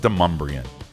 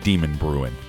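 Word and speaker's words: Demonbreun: Yes, it's pronounced Deumbrian.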